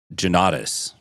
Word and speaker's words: Jonnatas: How does he say it? He says Jonnatas. Jonnatas? Jonnatas. I didn't hear Joe, I heard Jonnatas.